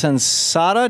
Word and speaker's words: Sensata: Cheryl rander is with us an employee at Sada Technologies am I pronouncing that right Sheryl yes you are and